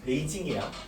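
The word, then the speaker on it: 北京: 북경이라고 있습니다. 북경을 중국어로 읽으면 베이징이야.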